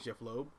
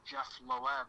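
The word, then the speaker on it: Jeph Loeb: that's weird yeah I always thought it was Jeff Lowe I heard a guy from I kid you not I heard a guy pronounce it uh Jeff Loeb and I was like nope that's not how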